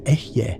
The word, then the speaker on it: Ehyeh: The pronunciation is Ehyeh, with the emphasis on the first syllable. The eh sound is open, relaxed, like the beginning of egg. The eh sound ends with a slight aspirated breath, almost like a sigh.